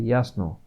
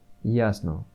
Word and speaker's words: ясно: Only other difference is that in Bulgarian we wouldn't pronounce the O as an A, like ясно. In Bulgarian it would just be ясно. Ясно. That means that it is a language where you pronounce everything the way it's written truly.